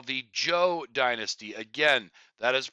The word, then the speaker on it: Zhou: But a turning point happens when a lord, the Duke of Zhou, that is pronounced Joe in English, um, he he basically proclaims himself king.